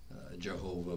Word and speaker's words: Jehovah: king james version jehovah so that we put in the vowels and pronounce the full name jehovah but a hebrew might